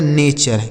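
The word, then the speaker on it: nature: जैसे एन ए टी यू आर ई तो एन ए से हो गया दोस्तों ने और टी यू आर ई का उच्चारण अभी हमने आपको सिखाया चर। लिखा गया नेचर।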